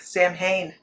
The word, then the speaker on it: Samhain: It is not. What is it? What, All Hallows Eve or Hallowmas or How do you say Sam Hain? Sam Hain? Samhain. Okay. Depends on you. No. SAM. I got scolded. Oh. I got scolded. And that is with the original dialect, Germany, England, France.